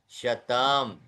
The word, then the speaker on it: शतम्: अब शतम में भी म आधा है अंत का। शतम, श पूरा है, त पूरा है, लेकिन म आधा है, तो उच्चारण में शतम, है ना।